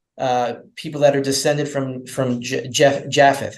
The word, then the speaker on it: Japheth: that are descended from Japheth. How do you say it in English? You'd say Yephet in Hebrew, but one of the three sons of Noah.